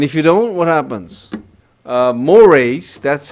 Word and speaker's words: mores: Mores, that's how it is pronounced, is more strongly held norms.